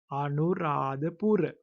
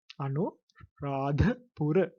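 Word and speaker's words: අනුරාධපුර: So you can call it Anuradhapura. Anuradhapura. There you have to pronounce the as the. It is not the, so you have to higher sound, the Anuradhapura.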